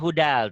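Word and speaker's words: هُدًى: Ditulisnya hudan, dibacanya hudal tuh. Ada L-nya ya.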